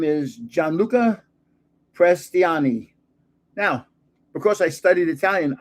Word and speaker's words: Gianluca Prestiani: And his first name is Gianluca Prestiani. Now, because I studied Italian, I pronounced that properly just then.